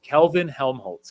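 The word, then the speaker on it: Kelvin-Helmholtz: Can you pronounce it? I can. Okay, go It ahead. is Kelvin Helmholtz clouds.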